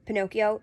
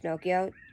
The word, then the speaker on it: Pinocchio: Just like my dad used to say that Pinocchio isn't actually pronounced Pinocchio. It's pronounced Pinocchio. Because it's like Italian or something.